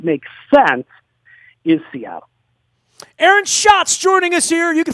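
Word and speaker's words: Schatz: A TZ uh but pronounced like the famous Brewery in Milwaukee that was uh fake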